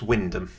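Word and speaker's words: Wymondham: If you don't know how that place is spelled, uh, is pronounced. Have a go. Nope, it's Windom.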